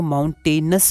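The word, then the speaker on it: mountainous: यहाँ पर देखिए माउंटेनस है, ठीक है, तो नियस हम लोग नहीं पढ़ेंगे, माउंटेनस पढ़ेंगे, ठीक है।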